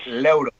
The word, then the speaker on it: Leuro: So Leuro. Am I pronouncing your last name correctly? No, you're not. It's Leuro.